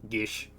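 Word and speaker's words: geas: Technically, because this isn't code GS, you would use the traditional Gaelic pronunciation of it, which is Gish.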